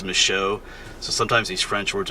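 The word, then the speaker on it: Michaux: is a mow State Forest it's the end is spelled au ux but it's not mishock State Forest it's micho so sometimes these French words are a little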